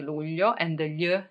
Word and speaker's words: luglio: Luglio in Italia. Luglio in Italia. You may have some problems pronouncing it, but July is called luglio.